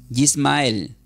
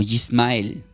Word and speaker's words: Yismael: Ismael del hebreo, anoten así, Ismael del hebreo se escribe como con Y, Yismael, ¿sí? Con Y. Y, S-M-A, un acento intermedio entre la A y la E, que sería como Yismael.